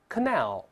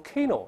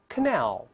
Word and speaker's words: canal: 错哦，大声来一遍 Canal 不要读成 Canal，这容易读错，再来一遍 Canal。